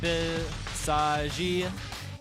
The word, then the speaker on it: Visage: the second hero for PHOENIX will be the Visage, or Visagi, as it would be pronounced in Korean.